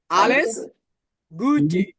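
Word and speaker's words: alles Gute: কি হবেস গুটে গুটে এলএস না আলেস গুটে এটাকে আমরা কি পড়ছি আ পড়ছি এটাকে আমরা আজ কি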